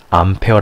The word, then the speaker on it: 암페어: 전리 기운은 아이고 다니는 a 라고 쓰구요 암페어 라고 읽으셔야 됩니다 꼭 단위를 이렇게 기호를 읽으시는 분이 계시는데 당연히 읽는 법이 있습니다 그래서 a 로 읽으시면 안되요 암표 알고 오셔야 된다는거